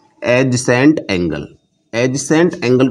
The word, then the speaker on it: adjacent: इसमें D silent रखना। एडजेसेंट जैसे ये हमारे पास एक लाइन है OA इसी के साथ हमने एक लाइन और खींच दी।